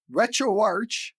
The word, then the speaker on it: RetroArch: But RetroArch was created or based on Arch Linux. So that makes more sense for RetroArch.